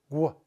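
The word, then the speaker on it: vergüenza: Bea beara it's bear virua virua so the two dots on the U it's called a deis it softens the gue from gay to guay be gensa all right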